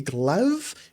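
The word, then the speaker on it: Glaive: Uh the added support for the HS80 wireless, the H100i RGB Pro XT, the Glav, that's how you say it, RGB Pro, and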